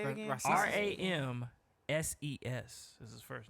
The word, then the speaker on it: Ramses: RAMSES is his first name. It's Ramses? just Roms.